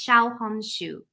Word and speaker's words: Xiaohongshu: wrong as well but from what i understand it's pronounced shao hong shu interesting okay i'll have